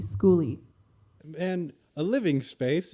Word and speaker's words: skoolie: a school bus house is called a schooly spelled with a k that's s-k-o-o-l-i-e schooly and a living space